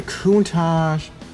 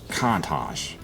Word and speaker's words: Countach: You know, it's pronounced either Countach, or Countach. So yeah, it depends on what part of the world you're from. The Americans pronounce it Countach. The Italians pronounce it Countach, like you dash, Countach.